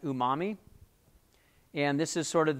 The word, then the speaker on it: umami: The last one that's here is actually pronounced umami.